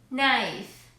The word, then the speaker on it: knife: The letter K will always be silent in English when it comes before the letter N. Here are some examples. No, knock, knife, night, knowledge, knee.